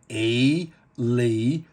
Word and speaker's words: Elysee: And you'll see there it says, I think I called it Elise or something, and I believe it's actually pronounced Elise. Elysee.